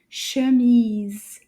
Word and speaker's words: chemise: This is called an chemise. Chemise. Chemise. Let's see if we can clap that one. Chemise. Yay! Deux syllabes.